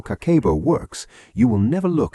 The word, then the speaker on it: Kakeibo: It is called Kakeibo, pronounced Kakeibo, and it translates simply as household financial ledger.